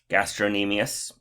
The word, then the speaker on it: gastrocnemius: muscles it is the gastrocnemius cn is silent i have a silent